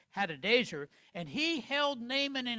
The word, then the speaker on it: Hadadezer: We learn that his king, by the way, his king was a Syrian man by the name of Hadadezer, let me pronounce it right, Hadadezer, and he held Naaman in highest favor.